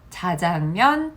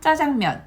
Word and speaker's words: 짜장면: 넣은 팥빙수와 짜장면이라고 했는데요 짜장면 예전에는 틀린 발음이었습니다 그런데 2016년에 개정이 되면서 자장면 짜장면 모두 사용하는 것을 가능하게 계정이 되었습니다 그렇기 때문에 요거는 맞고요